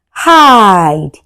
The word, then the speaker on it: hide: hide You can hear the sound of i and e goes silent.